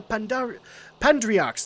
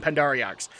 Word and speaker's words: Pandriarchs: My love, Lord tried to get permission to marry me from the Pandriarchs. That's how you say it. I was saying Pandariarchs.